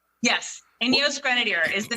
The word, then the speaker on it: Ineos: So did I pronounce it right? Ineos? Yes. Ineos Grenadier is the name of the vehicle.